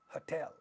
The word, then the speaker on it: hotel: of an stressed syllable look at the second word hotel hotel the second syllable in this word is a stressed and it happens to be that ta is at the initial position of this stressed syllable so this is going to be aspirated i am indicating aspiration